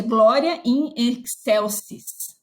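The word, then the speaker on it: Gloria in excelsis: Como que se pronuncia? Glória in excelsis.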